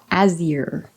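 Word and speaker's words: Azyr: Azir, to rhyme with deer.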